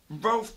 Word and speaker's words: Rowlf: So, But then the correct pronunciation from Rolf's own lips, so if Rolf says it, or anyone in the Muppet says it, it's closer to Rolf.